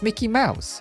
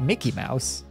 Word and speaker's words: Mickey Mouse: this a mini yeah it's Mickey Mouse not Mickey Mouse you don't emphasize the Mickey part I think